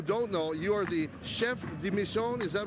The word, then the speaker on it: chef de mission: at home who don't know, you are the chef Dim Michon. Is that right? At for the US Olympic team. Am I saying it right? That's correct. I was the chef de mission for the US delegation uh that was in